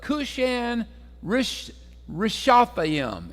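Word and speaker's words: Cushan-rishathaim: and he sold them into the hand of kushan rishatham is how you pronounce that okay say that three or four times real fast all right he sold them into the hand of cushion rashatham king of Mesopotamia and the children of Israel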